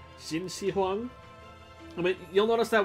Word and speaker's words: Qin Shi Huang: my previous part still i keep pronouncing it hana was the one who corrected me saying it was shin shi huang i mean you'll notice